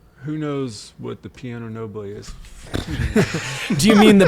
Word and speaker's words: piano nobile: I was literally Googling piano noble, and I got nothing. I got pianos, literal pianos, and it's piano nobile. And we were probably just saying it wrong.